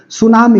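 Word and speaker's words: tsunami: बाद ज्वालामुखी बताएंगे सुनामी सुनामी टी एस यू एन ए एम आई होता है यही ना जी टी साइलेंट है सुनामी सुनामी क्या है यह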